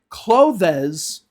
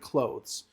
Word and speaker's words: clothes: They say clothes instead of clothes. I want to buy some new clothes, right? This is wrong. It's not two syllables, it's one syllable.